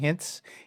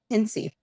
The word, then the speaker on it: Hintze: we're really happy to have with us Hintz. Is it Did I pronounce that right? Hincy. Hinty.